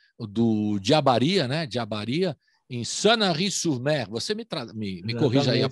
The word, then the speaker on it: Sanary-sur-Mer: Diabaria, em Sanary-sur-Mer. Você me corrija aí a pronúncia? Não sei se eu acertei. Estou me preparando aqui. Está perfeito. Sanary-sur-Mer, que é no sul da França, né?